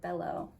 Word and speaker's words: bello: I want to recommend Cemetery Boys based on Bello's card because Bello in Spanish is pronounced bello, and it translates to lovely or beautiful, and the cover for Cemetery Boys is just absolutely beautiful.